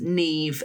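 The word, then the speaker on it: Niamh: It mentioned the names Neve and Cersa in the headline. Nev being spelled N I A M H and C.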